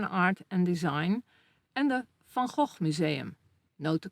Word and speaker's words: Van Gogh: known for modern art and design, and the Van Gogh Museum. Note the correct pronunciation of this name.